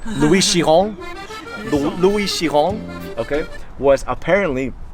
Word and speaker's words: Louis Chiron: So Louis Chiron, I didn't pronounce that perfectly. It's Louis Chiron.